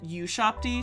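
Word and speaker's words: ushabti: So a shopty is you can also pronounce it U-shopty.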